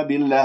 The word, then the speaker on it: بالله: كما في الناس آمنا بالله خطأ هذا نبر آمنا بالله كسرة الباء أبينها ما أختلس الكسرة بما أنه اسم الجلال سبق بكسر فإذا ترقق اللام بالله ولا أقول بالله بالله هذه إمالة فانتبهوا بالله اللسان مرتاح نايم